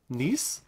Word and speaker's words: niche: Niche?